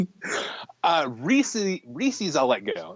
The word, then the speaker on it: Reese's: I mean because well re look at Reese is a name, right? It's Reese apostrophe s Reese's.